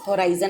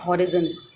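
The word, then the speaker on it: horizon: आई am pronouncing the right word. This is the pronunciation of this word is होराइजन. इट इज़ नॉट हॉरिजन, इट इज़ होराइजन.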